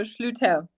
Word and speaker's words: Schlueter: Schlueter. It is Oh, a German last name, so okay.